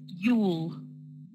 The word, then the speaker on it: you'll: Just for a bit of pronunciation, don't forget if you see this bit here, rather than you will, we shorten it to one syllable, so it's you'll.